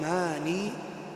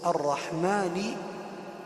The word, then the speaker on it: الرحمن: الرحمن الرحيم الرحمن الرحيم لا نقول كبعض الناس يقول الرحمن الرحمن خطا لان اللام هنا لام شمسيه اللام هنا لام شمسيه واللام الشمسيه تكتب ولا تنطق فالصواب ان نقرا ونقول الرحمن الرحمن ندخل مباشره على الراء المشدده الرحمن الرحيم الرحيم لا